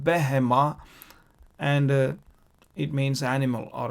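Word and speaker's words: בהמה: Here behema we pronounce with a ba.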